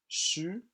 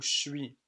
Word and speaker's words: je suis: Je suis est prononcé chu ou chui.